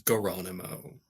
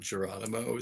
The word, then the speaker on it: Gano: like g g yeah his name is Gano not gono so okay yeah he didn't he missed a dimension he missed a some pronunciation so now it's Gano and Gano he writes it down